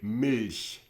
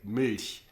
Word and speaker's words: Milch: that are so different or so difficult to pronounce for the tongue. For example, try to say Milch. It's a German word, means milk. Yeah, but most people like from the US cannot say it. Milch.